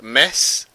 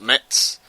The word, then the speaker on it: Metz: Metz, as I'm told they are supposed to be pronounced, not Metz.